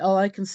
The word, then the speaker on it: Immortalis: then with much consideration I decided to change the pronunciation to the modern English pronunciation of Immortalis so I just wanted